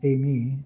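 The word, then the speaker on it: εἰμί: Okay, that's how it's pronounced, Amy.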